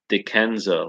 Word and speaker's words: Dickenza: It says Dickenza, like credenza.